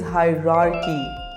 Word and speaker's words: hierarchy: The correct pronunciation is hierarchy. Repeat after me. Hierarchy.